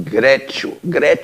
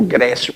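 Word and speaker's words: Greccio: Assis, em 1223, em Grécio, ou Grécio, porque se escreve com 2C, e diz que no italiano, quando tem 2C, tem um som de T, né?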